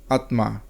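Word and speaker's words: आत्मा: হিন্দিতে আত্মা উচ্চারণটি অন্যরকম, আত্মা। বাংলায় ম উচ্চারণ না হলেও হিন্দিতে ম উচ্চারিত হয়।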